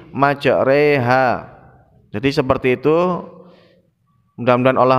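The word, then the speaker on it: مَجْرٰىهَا: Jadi ro pada surat Al-Hud ayat ke-41 itu dibaca re, bukan ro. Walaupun lafadznya itu ada fathahnya, namun karena ini bacaan gharib maka cara membacanya majreha, bukan majroha, tapi majreha.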